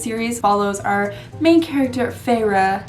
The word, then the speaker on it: Feyre: This series follows our main character, Feyre. That's how you say it in the book, but I like saying it Fair because I feel like that makes more sense.